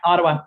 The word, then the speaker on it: Ottawa: Did I pronounce that correctly? Yep, Ottawa.